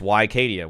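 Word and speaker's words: Wicadia: and by the way I am pronouncing it the way that Turkish people apparently want it pronounced and he wants to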